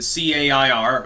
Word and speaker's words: CAIR: Her socio-political / religious ideology, they mesh together in that context, is really the CAIR, again I believe pronounced CARE, backing Hamas, does fund terrorism, backs Ilhan Omar, thinks she's great.